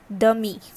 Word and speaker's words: demi: Okay, and if you want to know that what is step sister or step brother called, then you would use a word that is dummy. Alright, DEMI, dummy.